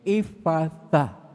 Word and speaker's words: Ephphatha: Itong Ephphatha, ito talaga yung pag-pronounce sa mga Hebrew. Ephphatha.